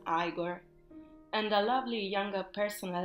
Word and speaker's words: Igor: unback buing eyed servant named eagor pronounced as aigor and a lovely young